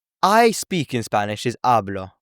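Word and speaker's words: habló: And then hablo shows that stress with the tilde, and you can see how the stress and the accent is on the ending. And hablo means I speak or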